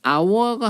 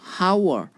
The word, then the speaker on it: hour: hour 정말 H 사운드로 시작을 하고 H는 묵음이기 때문에 요거는 적용이 안 되고 발음 기호상으로 사운드가 모음 사운드가 나기 때문에 on을 붙여준다고 생각을 하면 되겠고요.